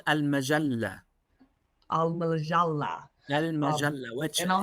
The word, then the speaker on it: Al Majalla: I can't pronounce It's called Al-Majallah.